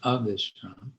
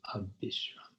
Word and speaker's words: abisrama: Okay, the B in the transliteration here, in Sanskrit it would be a V, but in Bengali B and V are basically the same, pronounced as B. So it's Vishram in Sanskrit, and then the opposite, Avishram, Bengali, Abishram. And even if you do